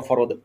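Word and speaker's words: فرض: যেমন পাঁচ ওয়াক্ত নামাজ পড়া ফরদ কিন্তু সেটাকে ওরা বলে ফরজ ফরজের অর্থ অন্য জিনিস সেটা তো ভাগিনা আমি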